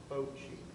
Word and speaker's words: Fauci: That's pronounced for the French. It's Fauci.